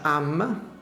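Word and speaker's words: עם: Si pronuncia am, normalmente viene tradotto con popolo.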